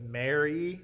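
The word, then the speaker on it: Maire: And it's spelled M-A-I-R-E, so it's Mary, I think.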